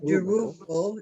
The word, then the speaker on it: Zerubbabel: I was also impressed with Zerubbabel, how you pronounce his name? Zerubbabel? Yeah. Zerubbabel, yes.